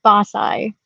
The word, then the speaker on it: BAScii: So our name is pronounced BAScii.